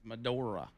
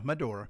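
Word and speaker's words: Medora: Madora. Madora North. Yeah. Not to be confused with Madna. Yeah, it's definitely not Madna. No, not Madna. It's Madora. Yeah, Madora.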